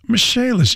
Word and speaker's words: Michalis: Dan Dakich here for the Michalis Corporation, spelled like Michael is, but pronounced Michalis.